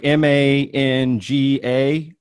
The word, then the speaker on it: manga: It's like M-A-N-G-A. Is that right? Yeah, it's called manga.